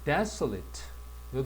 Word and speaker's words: desolate: 그다음에 desolate요 단어 강세는 잘 보세요. 지금까지는 여기게 전부 다 d라고 발음을 했는데 요놈만데라고 발음을 한다.